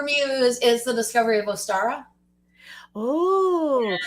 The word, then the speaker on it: Ostara: is the discovery of ostara oh which i think is actually basically pronounced like easter yeah it can be